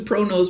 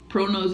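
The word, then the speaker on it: ProKnows: Now, black, I use a Pro Nose black. I've had it for years. Pro Nose is some wonderful, wonderful makeup. It's spelled P-R-O-K-N-O-W-S.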